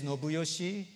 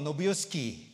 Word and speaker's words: Nobuyoshi: introduced myself my name is nobuyoshi some people said oh you are nobioski you know they change it to the Russian name or something so so